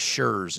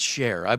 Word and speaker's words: Sher: Yeah, I get a lot of shers and shears. Yeah, it's share.